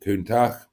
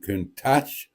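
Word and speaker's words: Countach: but I know and I do pronounce it kunak rather than kunach as he does because I speak Italian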